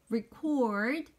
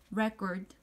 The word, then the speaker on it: record: 녹음하다는 record 발음이고요. 그다음에 녹음이라고 하는 명사는 record 좀 발음이 다르죠. 이 명사랑 동사 좀 차이가 있고요.